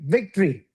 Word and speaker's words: victory: Victory. Victory. No O. No O. Victory. Just victory. Victory.